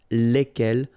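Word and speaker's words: lesquelles: And the good news is that phonetically, it's lesquels here for the masculine form and then lesquels for the feminine form, all right? So phonetically, it's exactly the same when we talk about the plural form here, but then if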